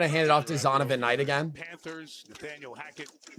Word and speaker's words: Zonovan Knight: Is it Zier Knight?